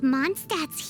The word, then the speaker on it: Mondstadt: Totally but pronounced that Mondstadt correctly.